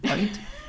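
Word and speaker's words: Hoecht: Height. Okay. Height. Doesn't look anything like it's spelled.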